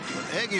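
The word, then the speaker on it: Eguy: the plate eliva check in where's Elisha eggy Rosario spelled e there she is what's up Elisha good morning pronounced eggy eggy Rosio stri inside ed3 FIA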